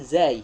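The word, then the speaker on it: زاي: Tapi di dalam metode ini cara pengucapannya bukan za tapi zai, ya.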